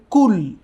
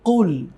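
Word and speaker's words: قُلْ: কুলের জায়গায় এই কুলকে অনেকেই পড়েন কুল। কুল। কিন্তু এটি কিন্তু কুল হবে না। হবে কুল। কুল। ওই যে আমরা আরবিতে দুটি অক্ষর পড়েছিলাম কফ এবং কাফ। এটি কিন্তু কফ। Not calf. সুতরাং এর উচ্চারণ হবে কুল। কখনোই কিন্তু কুল এরকম বলা যাবে না।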